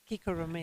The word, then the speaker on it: Kiko Romeo: Kiko Romeo. Just to confirm. It's Swahili. Swahili. Yeah. Aha. You can pronounce it the other way, no problem.